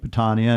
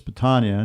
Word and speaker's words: Patania: It's Patania, not Patania. We used to say Patania was my daughter Nancy, who became a civil engineer that wanted to go back to the traditional pronunciation.